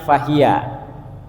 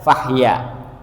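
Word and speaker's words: فهي: Itu kan kalimatnya fahiya. Nah, ini boleh dibaca fahya.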